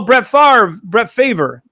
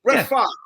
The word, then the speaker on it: Favre: Brett Favre's name it's pronounced in reverse of the spelling. It's Favre. But for some reason, this numbskull pronounces his name with the R in front of the V, even though it's not written that way.